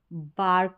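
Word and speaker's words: bark: रहता है वो ब रहता है, ब आर्क, बार्क बन गया, यानी ब में ही आ की मात्रा लग गई, तो बर्क नहीं बोलेंगे या ब आर्क नहीं बोलेंगे, बार्क बोलेंगे।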